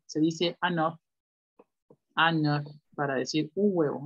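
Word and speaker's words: un œuf: Si dicen huevo, un huevo, ahí sí se pronuncia la F. Se dice anor.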